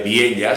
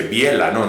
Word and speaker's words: Vielha: o la localidad de Viella se escribe con L y H, esa LH que suena elle. Como una característica propia del aranés, porque a veces que hay gente que dice Biela, no es Biela, es Viella.